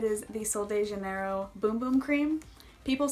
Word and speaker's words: Bum Bum: It is the Sol de Janeiro Boom Boom Cream. People say it's not Bum Bum Cream, so now I'm saying it the right way. Boom Boom Cream.